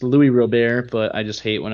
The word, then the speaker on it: Luis Robert: It's not Luis Robert. It's Louis Robert, but I just hate when I hear announcers say Luis Robert.